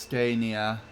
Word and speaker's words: Scania: I think it's supposed to be pronounced Scania.